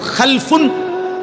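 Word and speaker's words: خَلَفٌ: আরবিতে একটা হল খালফুন আরেকটা হল খালাফুন। একই শব্দ শুধু উচ্চারণের মধ্যে একটু ভিন্নতা। মাঝখানে একটা লাম আছে। এই লামটার মধ্যে যদি সাকিন হয় তাইলে হল খালফুন।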